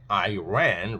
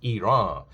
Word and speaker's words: Iran: started attacking Iran because they like to call it say Iran rather than real pronunciation which is Iran.